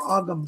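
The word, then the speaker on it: Ogham: But yes, I do know of the witch runes and the Celtic Golem as well. Or Ogum, some people pronounce it.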